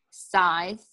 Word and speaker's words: scythe: Like scythe. Look at that word. S-C-Y-T-H-E. How would you know that that's pronounced scythe?